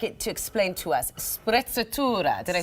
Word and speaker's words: sprezzatura: Sprezzatura. Did I say it right? Sprezzatura, yes, exactly.